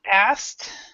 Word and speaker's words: asked: So we have, see, asked. We actually pronounce it like this. Asked.